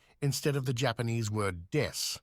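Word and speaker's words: です: English word death instead of the Japanese word des, ベビーメタルです as des means I am or we are and is Oh.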